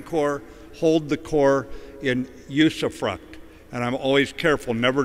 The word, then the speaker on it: usufruct: of our Marine Corps hold the Corps in usufruct. And I'm always careful never to drink before I say that word. It's spelled U-S-U-F-R-U-C-T.